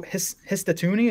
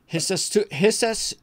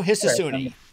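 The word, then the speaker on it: Ryo Hisatsune: And then Rio Hisatuni, is that Hisatuni? I already forgot. I know you had the pronunciation at some point.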